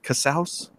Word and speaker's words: Casaus: a Cassell am I saying that correctly Casals Wow I'm actually quite impressed you did say